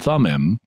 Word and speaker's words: Thummim: and golden threads also the urim and thumim to use the conventional pronunciation were put into the